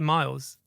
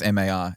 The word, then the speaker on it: Marles: I say Miles. Yeah, but it's not. It's MARLES.